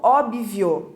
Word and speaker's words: óbvio: Óbvio, também com um som mudo ali no meio do B, né, B mudo, e erradamente pronunciado como óbvio, colocando um I.